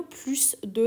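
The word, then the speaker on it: plus de: داریم بچه ها خب تو حالت عادی ما اینو چی تلفظ میکنیم اینو پلوس د تلفظ میکنیم پلوس د و بعدش اسم میاد مثلا میخوام بگم که افراد بیشتر پلس دپس یا میخوام بگم آلودگی بیشتر پس د پولس اما اگر بعد از این پلس د که اسش تلفظ میشه من عدد بیارم یا مقدار بیارم اس تلفظ نمیشه مثلا اینجا من عدد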